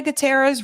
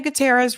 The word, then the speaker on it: Gutierrez: one of these three people Alec Baldwin Hannah gutera's Reed or David Halls had done their job hell no how do you pronounce her name Hall Hana halina let me